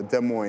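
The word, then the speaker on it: Des Moines: De Mo.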